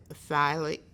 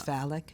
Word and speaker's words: phallic: sucking from the breast or the bottle, anal, phallic, and I'm not even sure if I'm pronouncing that right. I think it's phallic.